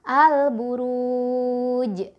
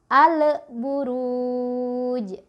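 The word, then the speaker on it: البروج: nya dibaca jelas jadi cara baca yang benar yo adalah al-buruj yang salah Ale Buruj alif lam nyaman tool lamanya mantul harusnya tidak boleh menyentuh atau al-buruj Itu juga salah karena lamnya ditahan harusnya tidak boleh ditahan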